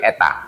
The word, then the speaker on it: eta: Jadi eta X sama dengan ini, tapi sering diartikan sebagai natural ya. Makanya kayak N ya tuh, natural. Tapi bacanya bukan N, tapi eta ya.